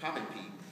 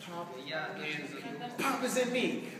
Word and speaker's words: Popin Pete: Now, the original way to say my name. Pop in P. Pop in P. Not Poppin' P. Pop in P. Because the pop is in me.